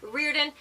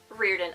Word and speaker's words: Riordan: pronounced Rick's surname as Riordan. It is Irish. I am Irish, and so this is the way that we pronounce his surname, Riordan.